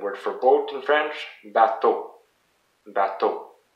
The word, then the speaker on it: bateau: And the word for boat in French, bateau. Bateau. So again, two syllables, ba, and it's the last one that is the most emphasized. To. Bateau. So this works for all the words in French.